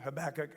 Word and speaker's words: Habakkuk: verses 2 and 3 habakkuk havoc however you want to pronounce it either or uh but then think